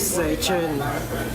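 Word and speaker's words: 四川: The actual word of Sichuan is Seichin in Cantonese.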